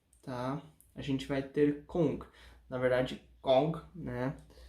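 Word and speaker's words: 功: Então, primeiramente, Kung, tá? A gente vai ter Kong. Na verdade, Kong, né? A pronúncia puxa mais pro O do que pro U, né?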